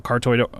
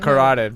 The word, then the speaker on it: carotid: or uh you know, cartoid artery. Is that how you pronounce that? Carotid. Carotid, sorry.